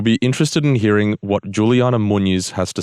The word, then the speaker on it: Juliana: that correctly right Juliana yeah yeah you didn't pronounce the properly Brazilian way but it's correct okay what's the Brazilian way Juliana okay yeah I was way off there now